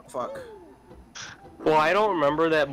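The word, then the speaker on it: Fak: You probably read it as fact. But it's pronounced fuck.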